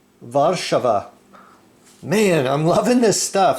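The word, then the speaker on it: Warszawa: hopefully pronounced Krakow and Warsaw is varshava man I'm loving this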